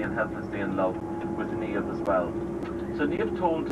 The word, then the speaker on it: Niamh: and she told them that her name was Niamh. Now, Niamh is a lovely Irish girl's name. You spell it N-I-A-M-H, Niamh.